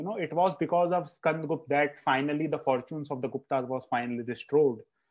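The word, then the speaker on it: Skandagupta: I will just add that it's Skand Gupta. Skand Gupta. Because, you know, I used to pronounce this name, and, you know, my father used to scold me. So I think Skand Gupta is the exact name.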